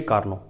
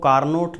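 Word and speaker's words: Carnot: वो ये है कि आप इसको कार्नोट न कहें, ठीक है। बहुत से बच्चे इसको बोलते हैं कार्नोट, ये आपका प्रोनाउंसिएशन होता है कार्नोट। Dear student, the correct pronunciation is this.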